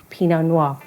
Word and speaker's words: pinot noir: p no noir now you cannot say it without sounding super fancy because it's just levels of the tongue it's pinot but with a noir pinot noir and then this guy